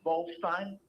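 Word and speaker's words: Bolshteyn: My name is Volstein. Can you spell it for me?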